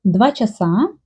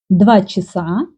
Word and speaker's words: часа: Ukrainian people will say 2 часа, 5 часов. Russian people sometimes pronounce a like и. 2 часа, 5 часов.